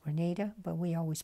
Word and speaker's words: Granada: name of the town I understand now that's pronounced Grenada but we always pronounced it Granada being from California and the following morning was